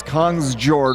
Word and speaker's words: Kongsjord: If you're from the old country, he says, but we're in America and it's Kongsjord. We're pronouncing every letter.